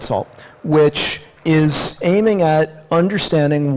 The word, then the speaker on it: NaCl: this new salt Library na ACL so pronounce that salt which is aiming at